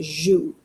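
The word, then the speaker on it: jouent: Okay, the N T are silent. It's pronounced joue.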